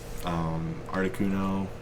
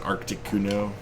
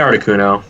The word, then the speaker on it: Articuno: Articuno, which I always pronounced wrong when I was a kid. I think I said Arcticuno.